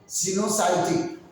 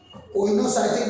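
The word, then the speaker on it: coenocytic: ओ इतनी नहीं पढ़ोगी सिनोसाइटिक ओनोसाइटिक मत पढ़ है ना सिनोसाइटिक सिनोसाइट वही प्रोनाउंस करते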